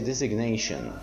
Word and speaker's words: designation: Here we cannot say design or design, the word of pronunciation design, and here we say designation. So designation, we produce the G sound and we delete it here.